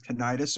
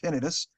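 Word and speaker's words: tinnitus: necromaniac podcast to have tenius or tinitus uh both pronunciations are correct by the way um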